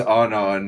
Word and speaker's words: Anon: pronounced that She said my incorrectly. name is Anon, not Anne, and then they're like they're just Okay, like, Anne.